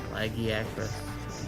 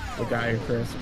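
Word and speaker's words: Lagiacrus: That is how they pronounce it in the game. Ragiakris.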